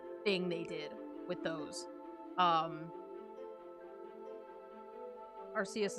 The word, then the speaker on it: Arceus: Arceus is a soft C, if I remember the movie correctly.